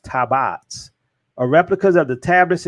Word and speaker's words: tabot: our tabbots he said the tabots pronounced tabats are replicas of the